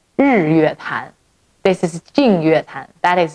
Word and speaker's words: Jingyuetan: It's called Jingyuetan. This is Jingyuetan. That is Jingyuetan. Okay. Yeah. So they're like sisters. The pronunciations are very similar to each other.